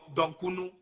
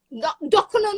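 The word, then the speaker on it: dokunu: Or if you eat it with donkunu or kenke. Dokuno, not donkunu.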